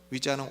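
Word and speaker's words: Ouija: 위자는 O-U-I-J-A 이렇게 스펠링 쓰는데 위라고 하는 말은 프랑스어로 예스란 뜻이에요. 그리고 야는 독일어로 예스란 뜻입니다.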